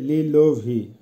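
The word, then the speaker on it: лиловый: লিলোভি, লিলোভির অর্থ হবে বেগুনি, উচ্চারণ হবে লিলোভি।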